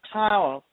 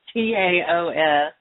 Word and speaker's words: Taos: What about tiles? Tiles? Have you ever heard about that? I know I'm not saying it right. It's Taos.